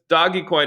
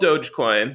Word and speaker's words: Dogecoin: This doggy coin. It's actually called Dogecoin. That's So right. I'm the expert here, and Pronouncing it's it.